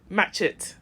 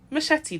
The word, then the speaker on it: machete: She used to say, match it. Machete, darling.